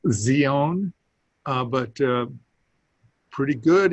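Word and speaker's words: Σιών: but pronounce it uh-huh in hebrew it's a t z sound uh so it's zeon uh but uh pretty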